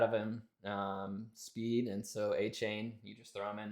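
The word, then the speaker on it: Achane: Penny's taking I A-Chain. see. Love it. We're pronouncing it right because we do our homework. A-Chain.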